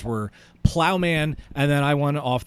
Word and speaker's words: Ploughman: myself right now I went through three different pronunciations before we started recording but we have from Plowman that's it I am from Plowman cider that's uh owner and founder of Plowman